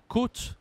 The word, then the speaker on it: côte: ha accent circonflexe et bien ça change la prononciation en français exemple la Côte d'Azur tu connais peut-être azur Coast la Côte